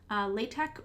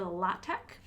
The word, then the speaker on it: LaTeX: this in notation using LaTeX you don't pronounce it latex it's lay-tech or lah-tech and this is a